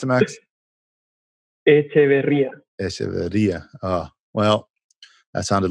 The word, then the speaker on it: Echeverria: How do you pronounce it, Max? Echeverria.